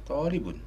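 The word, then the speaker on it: طالب: Talib atau tulab? Talibun. Talib. Tadi bacanya tulab, ya. Oh, salah, ya. Ini ya, saksinya banyak, ya. Iya. Barangkali enggak, Ustaz, bacanya talib.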